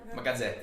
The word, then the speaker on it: Gazzè: How do you pronounce his name? Is it Gazzè? Gazzè.